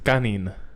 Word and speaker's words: kanin: the day today rice you're pronouncing it like an idiot it's kanin ladies and gentlemen also